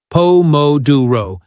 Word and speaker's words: pomodoro: We stress the second syllable, pouro, exactly like Italian chefs. Nailing stress patterns makes your English sparkle with authenticity. Say it with me three times. Pom modu pouro.